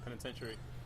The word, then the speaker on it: penitentiary: it's it's you're confusing it's basically spelled penitentary like that but it's get to say Penitentiary and they actually made